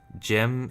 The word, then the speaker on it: GM: Jim is spelled GM.